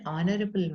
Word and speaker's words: honorable: an umbrella is an honorable man is an honorable man even though see here it is starting with head to H is silent so we have to